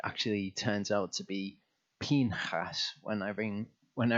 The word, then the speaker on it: Pinchas: foreign portion and that is how to pronounce it I've been saying pinchas I've only just about got it got to